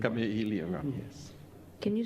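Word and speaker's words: Kameʻeleihiwa: Lili Kala, I can't pronounce her second name. Kame'elehiwa. Kame'elehiwa.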